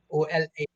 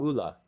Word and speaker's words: Ola: OLA, Ola. Yeah, Ooh, and Ola, but it's pronounced Ola, Ula.